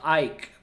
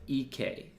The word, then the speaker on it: IKE: this is a trap it's spelled like Ike but I'm gonna go with ek cuz it's the Japanese vocalist II case vocals are